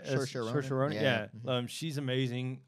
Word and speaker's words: Saoirse: Good pronunciation of the name too. It's a tough name to say. It's right. Saoirse Ronan.